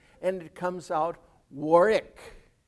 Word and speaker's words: Warwick: second w doesn't exist that second w is not pronounced and the a is pronounced like an o and it comes out warwick how do i know